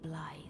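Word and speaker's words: Blaidd: Which I know that name is spelled B-L-A-I-D-D, but apparently it is... I want to say Gaelic? It is the Gaelic pronunciation, and the name literally means wolf. So Blythe is Wolf the Half-Wolf.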